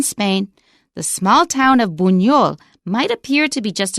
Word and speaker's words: Buñol: It's just like an NY. So if you wrote it BUNYOL, buñol, it would come out right.